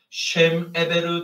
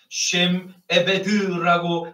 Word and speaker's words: 세메벨: 셴 에베르 대신 셴 에베드라고 읽음으로써 그의 이름은 없어지다 라고 재해석되었음을 볼 수 있습니다.